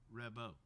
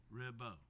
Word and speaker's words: Rabaud: I hope you will remember his name is Jean Rabaud. It's pronounced like rib and bow. Rabaud. He is French.